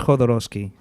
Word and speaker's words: Jodorowsky: But I don't know if I'm thinking of a How do you say his Jodorowsky? It all depends on who you talk to, but in my opinion, it's Jodorowsky. Jodorowsky.